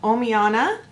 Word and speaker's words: Omiana: but it is a foundation called ohmy onna that's how I'm pronouncing it um this company that's